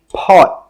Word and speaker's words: pot: This is a 'pot'. Pot. When we say this word, we stop the air with the final T sound. We normally don't say 'poT'.